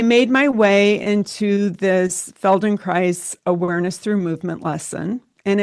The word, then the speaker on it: Feldenkrais: I made my way into a Feldenkrais. I know the name is tricky. It rhymes with nice. I made my way into this Feldenkrais awareness through movement lesson, and it was like nothing I had ever done before.